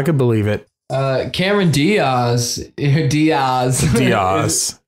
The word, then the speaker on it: Diaz: Diaz. That's actually the proper way to say it. Diaz. Yeah, but no one ever does, so it's actually become Diaz, I guess.